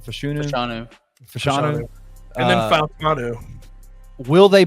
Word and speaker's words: Fashanu: He said the Joe Alts, the Lathams, the Fashunus. Is that how you say his name? Fashanu.